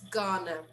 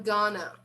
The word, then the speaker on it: going to: nice tip here look in spoken english going to is often pronounced as ghana so i'm gonna okay um for example